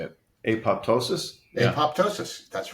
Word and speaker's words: apoptosis: Apoptosis.